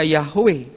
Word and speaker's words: Yahweh: ketika mereka ketemu kata YHWH, mereka tidak baca Yahweh, berbunyi terdengar seperti saya. Setiap kata YHWH, mereka akan bacanya Adonai.